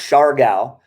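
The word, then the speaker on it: Siargao: natural beauty and that's what it's all about char gao is is funny j yeah it's pronounced shar gao though s-h-a-r but there's a little well it's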